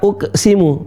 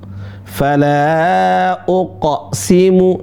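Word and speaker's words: فلا أقسم: Perhatikan bukan fala uk bukan uk fala uksimu. Bukan uksimu. Fala uqo. Ah itu yang benar di ayat 40 ini. Fala uqsimu. Ya. Para ulama ada dua pendapat sih. Ketika qalqalah huruf qof, dia mengarah ke domah dan kedua mengarah ke huruf fathah. Tapi yang rajih, yang kuat pendapatnya adalah mengarah kepada huruf fathah.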